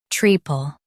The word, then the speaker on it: treacle: Both US and UK have the same pronunciation of this word, treacle. Now read the syllables shown on the screen naturally. Tree, pel, treacle. Stress tree and keep pel light.